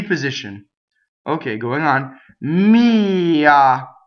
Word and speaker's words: mia: Mia, right? So mia, the accent is on the E, possessive pronouns.